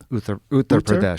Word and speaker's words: Uttar Pradesh: Uttar Pradesh, Uttar yeah.